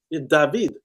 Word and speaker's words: David: Another one said it's pronounced David.